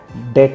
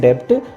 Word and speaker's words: debt: यूज़ नहीं करते हैं, क्योंकि जब भी इंग्लिश लैंग्वेज में बी टी से पहले आता है तो उसको हम साइलेंट कर देते हैं, तो ये होता है डाउट्स। जैसे डेट आता है, कर्ज के लिए स्पेलिंग हो गई DEBT, पर हम उसको डेट ही बोलते हैं, डेब्ट नहीं बोलते हैं।